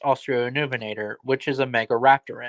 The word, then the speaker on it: Australovenator: walking with from St Chanel version it's now pronounced australovenator which is a mega Raptor in and it